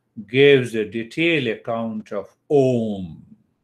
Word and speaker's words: Om: a detailed account of om how to meditate on ohm so this ohm contains three syllables a u means you and m a u ma so these three syllables